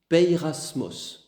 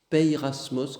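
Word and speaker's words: πειρασμός: Pirasmos. Pirasmos comme ça se prononce. P E I et cetera.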